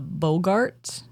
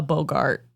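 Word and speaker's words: boggart: seven we have the bogart is that how you say it I think it's yeah I think it's Bogart Bart Bogart like Bogart like Humphrey the Bogart in the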